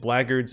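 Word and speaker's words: blackguards: can utter a word so i pronounce it blagards if it means their due wells the black guards if it's referring to the class and this is speaking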